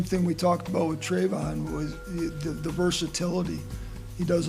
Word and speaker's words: Travon: I'm saying his first name wrong. As I learned last night, it's Travon, not Travon.